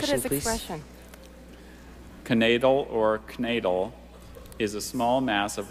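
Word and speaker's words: knaidel: It's a dumpling, as in Max hoped to find at least one more knadel in his soup bowl, but all he discovered was his missing lower denture.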